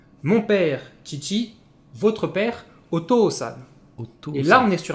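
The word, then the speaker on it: お父さん: Votre père, Oto-san. Et là, on est sur un mot super honorifique. Donc, on est sur le format traditionnel O plus kanji plus san. Ici, le kanji va se prononcer to.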